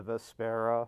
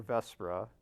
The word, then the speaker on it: Vespera: All right, so that is the Vespera, or Vespera, depending on how you want to pronounce it. We've heard it both ways. There apparently is no definitive answer there.